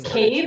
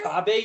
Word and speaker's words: Kabe: Evazan, and I was quizzing her, going through these names, and then I'm Is Cabe in there? What's that? Is Cabe in there? Oh, Kabe, you mean?